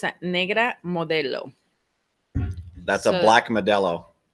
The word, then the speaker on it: Modelo: So, Mike McKinney, would you please say modelo again? We have to learn the right pronunciation. Modelo. Modelo. No, not like that. That sounded Italian.